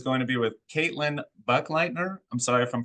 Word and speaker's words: Buchleitner: Buchleitner, but you're one of many to not say it right.